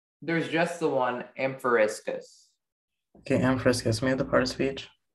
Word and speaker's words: amphoriscus: Is there any alternate pronunciations? There's just the one, amphoriscus.